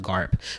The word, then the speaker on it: GARP: reasonable price or garp or just pronounced as the garp which is actually a